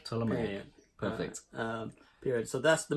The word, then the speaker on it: Ptolemaic: opening Old Kingdom, New Kingdom, and am I pronouncing that? Ptolemaic period. Ptolemaic. Ptolemaic.